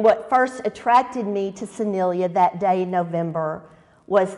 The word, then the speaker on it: Soniyyah: S-O-N-I-Y-Y-A-H. She was asked, how do you pronounce that name? Soniyyah, because my mama said so.